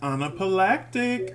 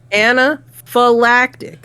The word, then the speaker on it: anaphylactic: what is it again anaphylactic anaphylactic you keep wanting to pronounce the p uh the pH is a f sound anaphylactic I still got